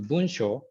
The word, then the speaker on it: 文章: That is a very, very long history, and I changed the pronunciation starting from. When I was young, the parents called me using the same Chinese character, but I changed my name to Bunsho when I was a high school student.